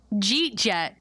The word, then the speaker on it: jeet jet: So, Jeet Jet, do you hear it? You're just... Yeah. You're saying, did you eat yet? But you're cutting it down to 2 syllables.